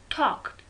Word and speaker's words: talked: Talked, L is silent.